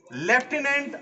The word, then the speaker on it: lieutenant: लेफ्टिनेंट iota, थोड़ा सा मैं आपका ध्यान आकर्षण करना चाहूंगा। स्पेलिंग देखिए, LIEUTENANT। स्पेलिंग क्या लिखी जा रही है, मैं प्रोनाउंसिएशन क्या कर रहा हूं, लेफ्टिनेंट, लेफ्टिनेंट आयोटा।